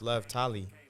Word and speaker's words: Lovetoliii: hey you know like my name is pronounced love tally and he goes I